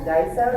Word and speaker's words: Daiso: Daiso, is that how you say it?